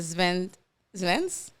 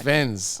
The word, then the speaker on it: Svens: Svens. Uh-huh. Svens. Svens. Okay. With like a S, but pronounced like a Z. Kind of, yes. Svens.